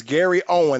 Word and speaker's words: Gary Owen: saying his name wrong no it's gary right it's gary owen there ain't no s on the end but yeah i would